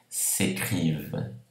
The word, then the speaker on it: s'écrivent: Tous les soirs, então todas as noites, les deux filles, as duas moças, s'écrivent, se escrevem, não pronuncia o NT, et ce soir ne déroge pas à la règle, esta noite não escapa à regra.